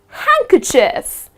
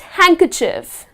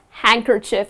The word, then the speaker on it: handkerchief: in so that's just handkerchief it's not hand kerchief but it's just handkerchief you do not pronounce the letter D another example oh I